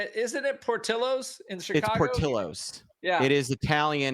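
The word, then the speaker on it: Portillo's: last name so that in Italian the Double L is just an LL oh really it's Italian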